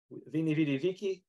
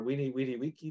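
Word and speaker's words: veni, vidi, vici: side it says Amalia Vini vidiviki or we need Wiki depending on you which uh which style of Latin you pronounce uh on the one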